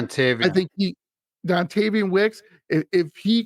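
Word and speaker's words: Dontayvion: If Devontae Wicks, he's pronounced his name wrong for whatever reason. I Dontavian.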